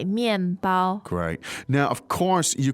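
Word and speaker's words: 面包: Now, in this case, it's bread, and that is 面包面包. Great. fourth and first tone Good.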